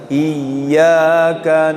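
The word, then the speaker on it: إِيَّاكَ: Kemudian dalam membaca iyyakana biasanya kita ya tasdidnya itu kita salah begini bacanya. Iyyaka ada nggak yang begitu? Atau namanya bahasa ininya inqita'us saut. Itu suaranya diputus. Iyyaka na'budu wa iyyaka. Ada nggak yang begitu? Banyak. Nggak boleh ya.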